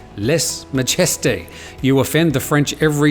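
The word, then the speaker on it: lèse-majesté: davies says please tim les majeste is pronounced les mageste you offend the french every time apart from that i love your news well liz yes we sometimes struggle with less majesty uh here's how google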